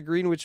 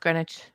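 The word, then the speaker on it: Greenwich: back up on talk yes what is the green witch meantime please uh grenwich it says green witch it's pronounced grenwich oh so we're both right all right I'll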